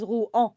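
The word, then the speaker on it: Rouen: It reminds me of one accident of uh my teammate saying ruen and I thought he was saying ru but pronouncing the n at the end like the city of ru it's written o u e n and I thought he was saying ruen as he doesn't know the sound is ru.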